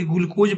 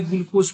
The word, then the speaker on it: ग्लूकोज: ग्लूकोस लिखा है सही है। स्पेलिंग देखिए ग्लूकोस कोई ग्लूकोज पढ़ता है, कोई ग्लूकोस पढ़ता है।